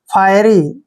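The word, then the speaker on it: fiery: ध्यान रखना है देखिए एफ आई ई को हमने यहां पर फाई पढ़ना है क्या पढ़ना है फाई ऐसे फाई पढ़ते हैं और आर वाई को री पढ़ेंगे फायरी ठीक है फायरी फायरी क्या होता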